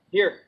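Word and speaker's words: hier: Here. And here is actually the same. It's spelled different, but it sounds the same.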